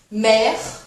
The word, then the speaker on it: mère: Mère, père. Mère, père. Esse ezinho do final é como se fosse um e mudo, tá?